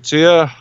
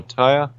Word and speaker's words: Tyre: And they said that about the city of Tyre, or Tyre, depends how you say it.